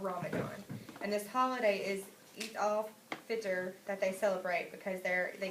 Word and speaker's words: Eid al-Fitr: Okay, before we start, I think it's pronounced Eid al-Fitr, or Fitr.